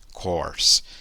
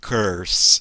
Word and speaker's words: course: i love my english kors então a curso inglês é english kors kors mas ela errou a pronúncia de corsa e ela acabou falando o quê aí love my english curso e aí sim curso